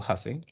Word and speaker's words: Hussey: Just remember the pronunciation is still Hussey.